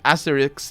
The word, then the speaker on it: Asterix: necessarily um ideology context asterix and obelisk aesthetics and obelisk i'm pronouncing it wrong actually because it's asteri right the the x at the end doesn't you don't say the x right i pronounce it